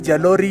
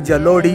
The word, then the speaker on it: जलोड़ी: वो थोड़ा प्रोनाउंसिएशन में मिसअंडरस्टैंडिंग हुई थी, जलोरी है लेकिन सर बता रहे जलोड़ी बोलते हैं ना।